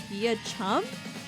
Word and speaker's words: Beauchamp: Beauchamp is pronounced via chum here, and that's just the life we have to live.